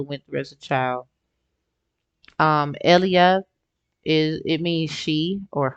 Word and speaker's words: ella: But I got the Cinderella download at 1117, the etymology of it, and Elia, because if you put Ella in Espanol, Elia, because the two L's are pronounced as Y's, so it's actually it's